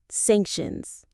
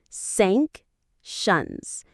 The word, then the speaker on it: sanctions: Sank shuns. It has two syllables. Sank shuns. The stress is on the first syllable.